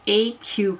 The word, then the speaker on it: aeque: and it's called an Aeque cowl. Now, I checked pronunciation, and I think that's right. It means equally in Latin. I've never studied Latin, so I'm hoping Aeque is what how you said.